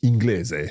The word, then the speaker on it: inglese: in other words like inglese. Sì. And that's just a normal gl. Esatto, sì. If there is no letter I, then it's pronounced as a hard sound. So inglese.